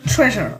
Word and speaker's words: Treasure: Tre non, on prononce bien Treasure.